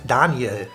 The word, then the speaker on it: Daniel: Potter sorry alright kid Daniel is in Germany just Danielle Danielle Danielle Danielle and it's not like it's not like Danielle but it's Danya it sounds like Danielle